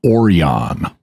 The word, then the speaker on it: Orion: on and you'll notice the blue Orion pronounce their name oron and that's also going